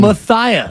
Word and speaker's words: Matias: Clara as well okay now Matthias were being told is the exact pronunciation Matthias uh sensation and also one